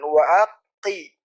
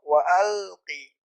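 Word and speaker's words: وألق: Jadi bukan wa aqi tapi izhar wa alqi.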